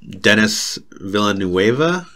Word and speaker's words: Denis Villeneuve: But I'd also like to add on to Arrival and just say that it's directed by Denis Villeneuve. I think is how it's pronounced.